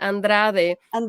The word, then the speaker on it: Andrade: Um you know we had you know andra that's how you say it andrade the figure.